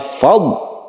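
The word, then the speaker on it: فضل: Hati-hati di dot ini lagi, saya ulangi lagi bahwa dot ini sering sekali orang yang membaca dot itu dipantulkan padahal dia tidak memantul. Jadi membacanya fadl.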